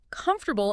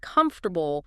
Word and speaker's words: comfortable: I remember a student who always stressed the wrong syllable in comfortable instead of comfortable, small thing, but it sounded awkward.